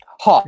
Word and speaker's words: Haack: Hawk is Hawk. how it's pronounced.